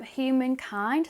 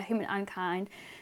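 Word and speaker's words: Humankind: elderflower and raspberry um human kind i think yeah human and kind that you pronounce it yeah human unkind so it says for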